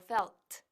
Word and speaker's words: felt: Cuidado con la T, márcala bien, felt. Repite conmigo, felt.